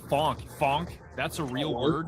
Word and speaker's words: phonk: Uh okay, spell it again. P H O N K. funk.